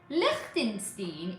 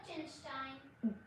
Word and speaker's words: Liechtenstein: Liechtenstein. Is it true that many of the world's... That's not how you pronounce it. It's pronounced Liechtenstein.